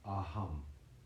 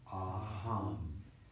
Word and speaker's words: aham: So with your eyes closed, and don't worry about the pronunciation, it's A-H-U-M, aham. So let's say that together, aham.